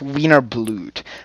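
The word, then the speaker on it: Wiener Blut: song a wiener blood weiner it's called it's pronounced wiener blued but it's falco's like some actual person yeah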